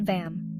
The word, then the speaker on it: VAM: Sacral Chakra, chant VAM, pronounced VUM.